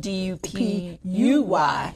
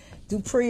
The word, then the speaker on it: Dupuy: And that's spelled D-U-P-U-Y. Yes, it's French. Yes, Dupuy. Yes. Yeah. And Dupree is fine, which a lot of people call me.